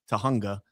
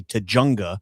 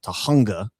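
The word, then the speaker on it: Tujunga: She would say Tajjunga because she doesn't understand that's a Spanish word I think. And the J sound is actually an H sound. So Tahunga Nevada, not Nevada.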